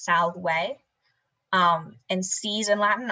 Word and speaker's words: salve: few quick notes um the letter v in latin is always pronounced like a w so the word for hi is spelled s-a-v-s-s-a-l-v-e it kind of sounds like salve or it looks like